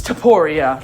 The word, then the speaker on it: Topuria: It's Topuria. That's how you say his name. I've fucking realized that just now. I think Topuria sounds cooler, though.